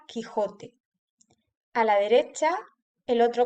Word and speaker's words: Quijote: No se pronuncia cuando la U está entre la Q y la E o la I. Aquí tenemos el ejemplo de la palabra queso y la palabra Quijote.